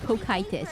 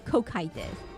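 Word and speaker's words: Cocytus: It's pronounced Kokitis, everyone. Kokitis.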